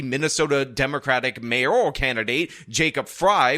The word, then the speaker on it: Frey: Democratic mayoral candidate, Jacob Fry, which should be pronounced Frey, but a lot of you corrected me and said it was pronounced Fry, is beating his socialist